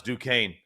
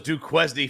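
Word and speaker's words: Duquesne: basketball versus who doesn't based on how they pronounce duaine you got those duesy folks out there you know they never follow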